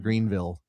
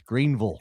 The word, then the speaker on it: Greenville: Make sure you say it properly. It's not Greenville, it's Greenville. Greenville, South Carolina.